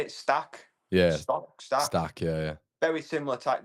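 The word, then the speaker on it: Stach: Stack.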